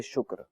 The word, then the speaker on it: شکر: شکر، کاف جو ہے نا یہ مجزوم ہے، یعنی کاف پر کوئی حرکت نہیں ہے۔ ٹھیک ہے، شین پہ پیش ہے، شین پر پیش کاف ہے، پہ کوئی